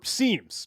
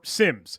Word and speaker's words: SIEM: event management platforms or seams or Sims you can pronounce it however you want but it's that centralized